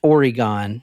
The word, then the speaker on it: Oregon: started 2001 Burnside Bridge Oregon you said that's so weird okay go ahead I said it how it's pronounced Oregon Oregon we're going to Portland